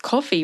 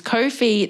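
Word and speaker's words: Ko-fi: their organization okay and it is kofi the same as no fee get it because kofi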